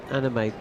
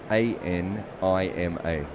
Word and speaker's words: Anima: Anime. That's anime. Spell it. A N I M A. Anima, not anime.